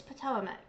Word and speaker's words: Potawatomi: Brittany Jones says she's of Potawatomi descent, a veteran. Mind you guys, it's Potomac.